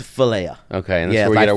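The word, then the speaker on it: φιλία: Do you know how to pronounce it? It's Philia.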